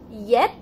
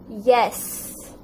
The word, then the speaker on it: yes: of us would say yep yep and that is wrong it is not yet or yep it is yes so you see this s we need to stretch okay it's okay if